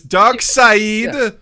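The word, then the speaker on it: Darkseid: i think it was i was corrected specifically and i was told it was dark side so i will never say it any other way okay i think it is but it's spelled no exactly thank you it's spelled stupid it's dark side uh yeah i ah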